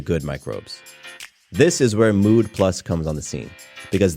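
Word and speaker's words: Müd Plus: your mood then give mood plus a try the company is called mood plus but it's spelled mud with an oout over the U so listen close for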